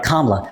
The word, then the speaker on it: Kamala: Let me say her name right, Kamala.